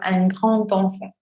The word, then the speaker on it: un grand enfant: Al momento de hacer la liaison, vamos a decir, por ejemplo, un grand enfant, como una T.